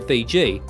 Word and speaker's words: Fiji: and much in demand they called their home Vitti but the Tongans called it the sea it is by this foreign pronunciation Fiji first promulgated by Cooke that these islands are now known after the Explorers other